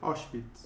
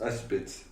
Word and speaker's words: Auschwitz: ¿Cómo se pronuncia, Pedro? Auschwitz. Auschwitz.